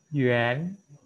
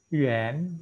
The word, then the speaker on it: yuan: Ya, kita bacanya yuan. Yuan. Ini ada apa? Ada yang kan di sini. Maka kita nggak boleh baca a. Ini si yang ini. Ya, maka baca tadi. Bacanya ada yuan.